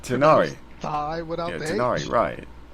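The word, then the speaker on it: Tighnari: I'll leave any further Tegnari, details to Kale. Tignai. I had no idea how it was pronounced. Yes, you can count on me. You know, it's just pronounced Tenari.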